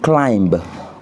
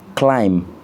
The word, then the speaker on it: climb: On dit pas to climb, on dit to climb, c'est-à-dire grimper.